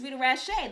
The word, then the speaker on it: Rita Rache: This is Rita Rache. The T is silent.